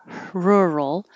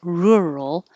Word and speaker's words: rural: that your final answer rural this can sound like her rural or uh like hook rural but it will never sound like so don't round your